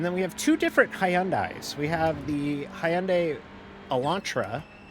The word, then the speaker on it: Hyundai: and the Audi RS3 I thought it was pronounced Hyundai it is pronounced Hyandai hyai hyand I I pronounce it the old